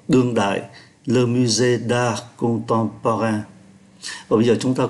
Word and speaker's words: Contemporain: Ký tự M này cũng phát âm là N khi đứng trước P. Viện bảo tàng nghệ thuật đương đại, Le Musée d'Art Contemporain.